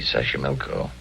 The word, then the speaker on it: Xochimilco: Xochimilco. Okay. So you pronounce it better than I do. It's easy, Xochimilco.